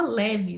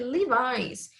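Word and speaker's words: Levi's: world live stross store o número fala leve da calça leve mas a pronúncia correta e lilás então ela foi para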